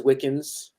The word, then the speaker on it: Wickens: what I mean um my last name is wiccans not so like not spelled like Wiccan but it's close enough and um somewhat ironically